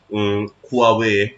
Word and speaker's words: Huawei: In fact, in 5G technology, it is Huawei, Chinese company Huawei, Huawei, which pronounces Huawei.